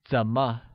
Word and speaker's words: 怎么: How translates as 怎么 and is pronounced with a falling rising tone.